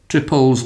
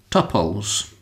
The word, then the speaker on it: tuple: You will hear them called tuples, and you will hear them called tuples. Now, I say tuples, but let's not fight about it.